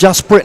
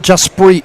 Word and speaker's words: Jasprit: Well, Mike Rochburns is saying, Tony, Jasprit is pronounced Jasprit, not Jasprit. Please correct.